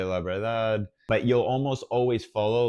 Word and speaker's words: verdad: A pronunciation note for this one is that oftentimes the second D might be a little bit softer, and you might not even hear it, and you might sound more like verdad, verdad, because the